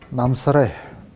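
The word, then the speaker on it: Намсарай: Если имя оканчивается на долгую гласную, это выглядит следующим образом. Намсаре. Намсаре. Намсаре. То есть мы произносим долгую гласную на конце.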